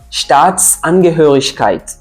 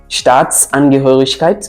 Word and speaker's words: Staatsangehörigkeit: S, c'est un élément de liaison très important dans la prononciation des mots compliqués. Par exemple, quand on prend Staatsangehörigkeit, Staatsangehörigkeit qui veut dire nationalité, mais quand on décortique